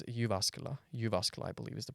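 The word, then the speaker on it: Jyväskylä: how do we pronounce a city nowadays it's yasa yuasa I believe is the pronunciation you you you're the one with the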